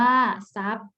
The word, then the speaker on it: ทรัพย์: อ่าน ว่า สุด โทรม ทรัพย์ อ่าน ว่า ทรัพย์ ทรวด ทรง อ่าน ว่า